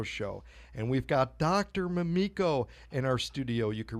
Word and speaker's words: Mamiko: myself such as even changing the pronunciation of my name so that it was a little softer from to Mamiko great I'm glad thank